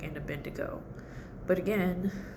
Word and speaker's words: Abednego: The it was Shadrach, Meshach, and Abednego.